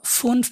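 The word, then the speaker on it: fünf: এফ এফ উটা উটা উমলা উটটা এটা উমলা উচ্চারণটা তো ফুনফ মানে হচ্ছে পাচ ছয় কে বলে জ্যাক্স এস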